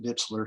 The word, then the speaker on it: Dietzler: Mr dietzler you have the floor thank you my name is ditzler my dad pronounces at ditzler so I'm going to stick with that and I came to